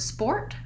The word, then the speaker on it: sport: But in the word sport, we also want to watch out for making sure we don't leave that T off the end.